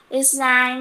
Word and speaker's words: island: Island आइलैंड, was बेटा इसको आइलैंड पढ़ते हैं. यहाँ पर क्या होता है, इसमें एस साइलेंट होता है, इसलिए हम इसको आइलैंड पढ़ते हैं.